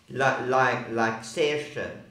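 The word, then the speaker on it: Saoirse: Like Sersha, A-O-I. So there's an A, an O, and an I, and you don't pronounce any of those letters. You pronounce it E. So it should be S-E, but no, S-A-O-I.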